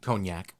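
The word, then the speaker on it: cognac: how do you say that word that drink conac conac okay this one's called not all heroes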